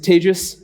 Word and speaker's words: Tejas: uh from Germany uh my name is Tejas that's pronounced like contagious um I I couldn't